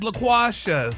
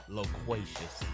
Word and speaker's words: loquacious: for y' okay this week's word out is laaus uhuh no I'm sorry I'm sorry loquacious it's damn it loquacious is pronounced it's pronounced l o q u a